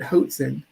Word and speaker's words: Hoatzin: While these birds are bad at flying, evolutionists have been forced to credit Hoatzin rhymes with Watson's with some impressive rafting.